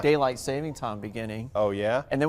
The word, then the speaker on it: saving time: of course you say saving time or savings time it is no s it it's just saving time I'm I've been saying